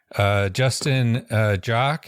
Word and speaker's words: Justin Joque: So, Justin Joque, am I pronouncing that correctly?